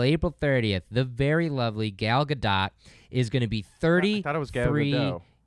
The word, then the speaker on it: Gal Gadot: I took French. It's Gal Gadot. All right, it's Gal Gadot.